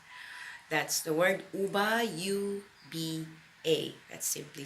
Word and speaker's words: uba: to get naked that's the word you buy you be a that simply spell some people also spell it as oba oba doesn't matter if it's Obama or uber it